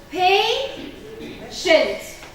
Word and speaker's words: patient: So if I look at the word patient. Patient. So where is my suffix here? That is my suffix. So what am I going to stress? The first syllable.